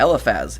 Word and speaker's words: Eliphaz: And this counters what Eliphaz, how do you pronounce his name? Yeah, Eliphaz.